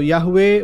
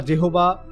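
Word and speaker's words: יהוה: তো একইভাবে হিব্রু ভাষাতেও বাইবেলের মধ্যে যেটা বলে না ইয়াহুয়ে, তো ইয়াহুয়ে বা জেহোবা যে দুইটা উচ্চারণ, এটা হচ্ছে একটা ইন্টারপ্রিটেশন বাইবেলের মধ্যে।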